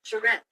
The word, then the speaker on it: charrette: for educational purpose, the American pronunciation is. Charette.